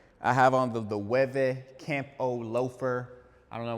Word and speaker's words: Loewe: it, but it's spelled l o e w e. You may see it and pronounce it as Loewe or low, but it is a Spanish brand, so it is Loewe.